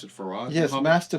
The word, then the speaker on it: Fard: Fard, did you pronounce it Farad? Yes, Master Fard.